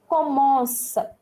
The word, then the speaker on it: commence: Now if you see this verb conjugation, see here I am pronouncing it as commence. Okay, C is followed by E. The last C is followed by E. So, sir sound, commence.